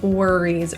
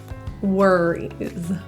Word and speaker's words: worries: The O in worries is pronounced as like an ER, worries, rather than a rounded wool, worries.